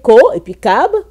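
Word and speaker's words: כוכב: Et c'est dit Kokab, et ça se prononce, comme vous voyez, Ko, et puis Kab.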